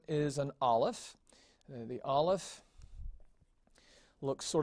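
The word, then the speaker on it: Aleph: that's the cursive now the olive is really a silent letter it is not pronounced it is still pronounced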